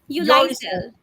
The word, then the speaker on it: Yoliesil: Sorry, how do you pronounce it? Yoliesil.